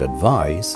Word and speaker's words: advise: is advice and advice these two words have similar spellings similar meanings and only a slight difference in pronunciation advice is a noun and advise is a verb for example can you